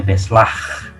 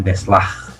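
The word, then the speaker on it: beslag: Bahasa Belandanya beslah, ya. G itu dibaca gitu. Saya tidak terlalu fasih, tapi guru-guru saya dulu mengajarkan membacanya beslah, ya.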